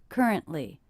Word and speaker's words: currently: that to stop T currently currently and in this three-syllable word i noticed that stress is on the first syllable ker ker currently currently in